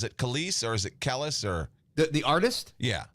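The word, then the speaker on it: Kelis: say Kellis is it kiss or is it Kellis or the the artist yeah it's kise mil milkshake yeah k is this K that's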